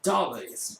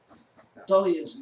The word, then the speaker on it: Dahlia: Dahlia's most mysterious and alluring trait is the silent H in her name.